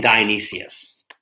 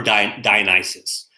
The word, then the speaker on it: Dionysus: two deities, Apollo and Dionysius, or Dionysus. Dionysus is probably a better way to say it, but both of those two pronunciations are legit.